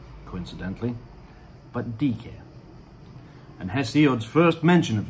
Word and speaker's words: Diké: order peace and which means justice is not pronounced dyke coincidentally but d care and hesiod's first mention of dk of the